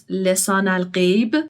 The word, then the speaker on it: Lisan al-Gaib: And like the pronunciation is a bit different. It's Lisan al-Gaib.